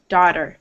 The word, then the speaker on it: daughter: So you just have to think of it as sounding like an the entire A-U-G-H is being replaced with an ah sound.